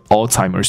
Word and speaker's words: Alzheimer's: For hiring a stripper、因为请了一个 stripper 来干嘛？来娱乐这些老人家，to entertain 娱乐，没错。那这些老人家他用了一个词叫做 old timers，没有问题啦。OK，old timers。那西方人会把这个字搞错，怎么搞错？有一个字叫做阿兹海默症，你知道？那它的发音是 Alzheimer's disease。所以这里有一个字叫 Alzheimer， OK，听起来像不像 old timer？